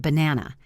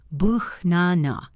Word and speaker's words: banana: We say buch-na-na. The first A is a schwa. The last A is a schwa.